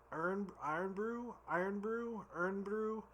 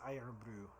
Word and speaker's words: Irn Bru: We're gonna say it's Irn Bru. We'll pretend it's pronounced like iron.